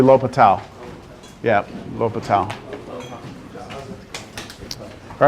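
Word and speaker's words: L'Hôpital: It looks like La Hospital, right? Yeah. Like La Hospitals, but it's actually L'Hopital.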